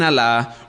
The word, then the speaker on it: Alá: que todos se sometan al islam Ahora cuando usted escucha la palabra al a L A con acento en la segunda a eso es su Dios